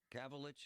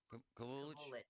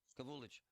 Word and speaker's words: Kavulich: So, this guy's name is Jason Gabalich. Is that how it's pronounced? Kavulich. Kavulich.